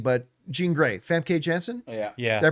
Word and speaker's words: Famke Janssen: It's got, I never know how to pronounce her name, but Jean Grey, Famke Janssen. Yeah. Did I pronounce her name?